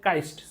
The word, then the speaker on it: cyst: तो ये जो ब्रेक हुआ है ना, ये जो चीजें टूट गई हैं, छिलके, इस छिलके को काइस्ट बोलते हैं।